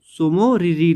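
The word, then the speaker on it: Tso Moriri: Lake का नाम है सोमोरिरी लेक। ठीक है, ये जो टी है ये साइलेंट है।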